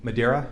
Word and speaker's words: Medaria: spelling each of your names yes your honor madeira first name is spelled m-e-d last name is mr slusher